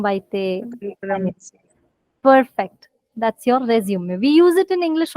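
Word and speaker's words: résumé: Resume. Resume. Do you see the matra on the e's? And right, Kanika did pronounce the last letter because it's an exception. Resume.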